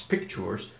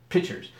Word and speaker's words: pictures: not to paint pictures I mispronounced the word on purpose its pictures but I like to I just my the artery side of me the ornery side of me comes up and I've mispronounced the word pitchers you need to get